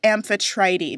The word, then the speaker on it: Amphitrite: name is is it amphitrite or is it aetr I would say aetr because typically in Greek you pronounce all of the letters in their like long forms cool good to know